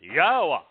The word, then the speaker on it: Yahowah: Torah mhm the o sound in Shalom comes from well the wall even Israel that's the sound of the the yod so yod wah is yahwa not difficult not impossible to know how to pronounce it God's very clear that